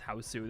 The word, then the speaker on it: Hausu: B, also known as, I don't know why I say Hausu, it's house, but in Japanese it's Hausu. It just sounds so much cooler, like Hausu.